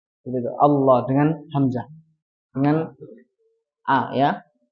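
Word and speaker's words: الله: Ketika ingin disambung ke ayat 2, maka dihidupkannya dengan nun yang berharokat kasroh. Nah, ketika dihidupkannya seperti ini, maka tidak dibaca tebal. Ahadunillah. Tapi dibacanya tipis, la. Karena apa? Karena didahului dengan kasroh sebelumnya. Seperti itu. Tapi kalau berhenti di ayat 1, maka dia dibaca tebal dan dihidupkan hamzah wasalnya.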